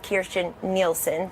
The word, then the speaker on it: Kirstjen Nielsen: First of all, I serve with General Kelly, and I serve with Kirstjen Nielsen. That is her name. Everybody ought to learn how to pronounce it because she's about to be our